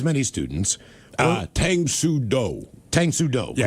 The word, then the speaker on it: Tang Soo Do: Tang Soo Do. Yeah, correct. trust me, I Google pronunciated it.